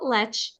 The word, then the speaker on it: Lech: So my name is Lech. It's pronounced, even though it's spelled Lech, L-E-C-H.